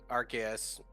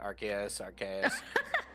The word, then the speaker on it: Arceus: Arceus. Some people say Arceus, some people say Arceus. I think the correct way is actually Arceus, Arceus.